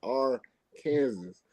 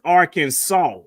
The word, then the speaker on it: Arkansas: that it's spelled however the way that it's pronounced is that last s is actually a w so it's pronounced as Arkansas see I would have